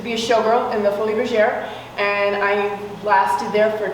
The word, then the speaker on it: Folies Bergère: You were in a show, and I'm going to pronounce it from Texas, it's Le Folies Bergère, but in French it's actually what? Folie Bergère. Exactly, and it was at Tropicana, and ran for 150 years.